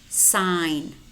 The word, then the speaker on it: sign: exotic exaggerated exaggerated and we also have letter words which contain the letter G but it is silent no rain diaphragm sign Nash matte design design campaign foreigner tongue resign when do we pronounce this and separately in separate syllables such as signal signature and resignation okay I will see